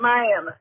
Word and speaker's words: Miami: It's kind of like Miami, spelled like Miami, but here in Oklahoma, we call it Miami.